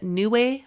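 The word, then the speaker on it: Neiwai: think they call them if you pronounce it new way bras it's spelled n e w a i um and they are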